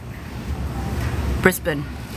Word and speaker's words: Brisbane: you got it fees with emphasis on the first syllable Brisbin brisban um Monica said